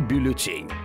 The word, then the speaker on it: бюллетень: это название официального документа так как слово французское то ударение падает на последний слог бюллетень слово в современном русском